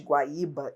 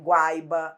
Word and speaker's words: Guaíba: Porque senão, se a gente não mantivesse o acento de Guaíba e Guaíra, qual seria o risco? No futuro, as pessoas falarem Guaiba, Guaira.